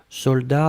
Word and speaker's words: soldat: Je regarde, vous l'avez bien écrit, attention save the best, soldat avec un T final, on ne prononce pas le T, mais logiquement il devrait être là, d'accord?